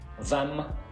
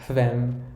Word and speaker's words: hvem: And with all these question words starting with HV, we don't pronounce the H. We write it, but we don't say it. So we say hvor, hva, hvem, hvorfor, når, hvor gammel, hvordan.